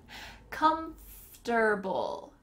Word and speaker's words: comfortable: In the middle of that word, it sounds like , ft, ft, comfortable, comfortable, but we often shorten this to be comfy.